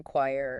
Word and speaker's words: choir: Like the CH in choir. Oh, yeah. Choir. Which sounds like a K.